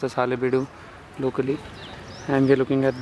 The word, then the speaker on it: Halebiddu: I am in Halebiddu, I pronounced as Halebiddu locally, and we're looking at the famous Hoysaleshwara